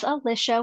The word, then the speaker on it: Alisha: of the socials hello my name is Alisha we were just discussing it rhymes with Patricia but as always you